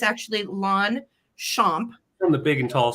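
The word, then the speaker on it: Longchamp: as years okay right so um and it's pronounced long champ okay so while it looks like long Champs long Champs luxury long Champs no it's actually lwn shamp from the Big and Tall store pronunciation in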